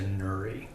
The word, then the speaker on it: Nouri: And we're going to go through a brand change, and we're going to be renamed to Nouri for Nourish. Oh, okay. So how do you spell that? Nourish without the SH.